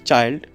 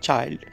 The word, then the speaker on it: child: here c-h-i-l-dato is simply child okay it's not child but we must call the word the first two letters it's ch it's not sure sound it's ch sound okay friends we call